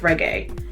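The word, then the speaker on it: Regé-Jean: First of all, my guy Reggae, I think it's pronounced Reggae.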